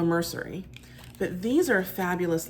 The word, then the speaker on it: Mercier: that you pronounce it I was saying L Mercier it's l mercery but these are a